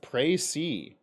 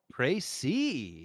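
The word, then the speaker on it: précis: gunshot was heard in the restaurant apparently it's pronounced pray c pray c wow i have never heard of that says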